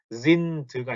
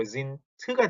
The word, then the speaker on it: sind: 그래서 특히 요 녀석과 요 녀석은 단어 끝에 d가 들어가지만 독일어에서 단어 끝에 있는 d는 무슨 어떻게 발음이 된다고요? t 발음이 나니까 sind가 아니고 sind가 돼야 되고 seid가 아니고 seid가 돼야 됩니다. 요거 발음 주의하세요.